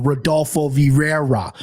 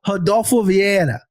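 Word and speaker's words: Rodolfo Vieira: an School of pronunciation my Midwest ass would go rodulfo Vira that's what I would say but no I've been through the hard I've been through this training so I'm gonna go Hado via and I think again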